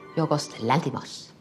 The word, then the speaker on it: Yorgos Lanthimos: As a Yorgos Lanthimos alum, what's the most unique aspect of... How did you say that again? Yorgos Lanthimos. Nah, that's terrible. How do you pronounce it? Yorgos Lanthimos.